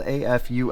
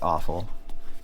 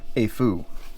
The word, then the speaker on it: Aful: performer 5 uh the brand is uh spelled AF UL L it's it's pronounced a Fu okay just so we stop calling it awful because there's absolutely nothing awful about it um